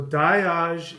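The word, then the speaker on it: Dagaz: So Die-Yahz is the word for day. The G sound is oftentimes not pronounced, but in German it's Tag, Guten Tag, good day.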